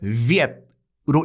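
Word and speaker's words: Việt: 이 월자가, 그러니까 쓰기는 월자로 쓰지만 이 월자가 지금 베트남식 발음으로는 viet으로 읽거든요.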